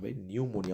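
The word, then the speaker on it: pneumonia: spelling check करो जरा पी से स्टार्ट होता है बाबू पी एन ई यू न्य न्यू न्यूमोनिया अ न्यूमोनिया होता है ना न्यूमोनिया न्यूमोनिया न्यूमोनिया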